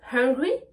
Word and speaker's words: hungry: En l'occurrence, dans le mot hungry, la lettre H n'est pas une lettre muette. Donc on va devoir la prononcer. Et pour pouvoir prononcer la lettre H, on va tout simplement prendre sa respiration. Vous voyez, quand je dis hungry, j'ai faim. Hungry, je suis énervé. I am hungry, j'ai faim. I am hungry. Vous voyez que pour prononcer la lettre H, je respire. Hungry.